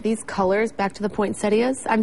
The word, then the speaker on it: poinsettia: to say that these colors back to the point saidas I'm saying it correctly right yes the colors